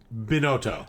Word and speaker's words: Binotto: called it all you know Bono it's it's pronounce it for us now boto boto yeah see if we just said Chris